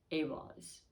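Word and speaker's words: Ehwaz: So what the information coming forth is, it's Iwaz, Awaz, and it's interesting because it starts with E. The pronunciation, though, they say is Awaz.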